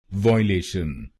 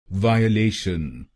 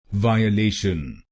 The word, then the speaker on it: violation: Some people in India pronounce this word wrongly like Violation. So let us understand why this pronunciation is wrong and what is its correct pronunciation. Its correct pronunciation is Violation Violation. This word has four syllables.